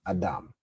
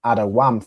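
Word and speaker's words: אדם: But really the root here, the way you'd originally pronounce it is Adam. Okay, I believe previously I had it as Adawam for red, but I had to correct that because whenever you see this Y in the middle of a word, you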